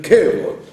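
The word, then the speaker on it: כבוד: Il ne faut pas dire Kvod, il faut dire Kevod, puisqu'il est au début d'un mot. Donc au début d'un mot, le Sheva se prononce presque comme un E.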